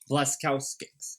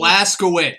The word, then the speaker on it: Blazkowicz: Blazkowski. God, I am just terrible. Blazkowicz. Yeah, terrible with pronunciation of last names.